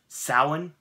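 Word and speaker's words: Samhain: Sandman bring me a dream saawan thank you dr. Jimmy for the pronunciation it means Lord of the Dead the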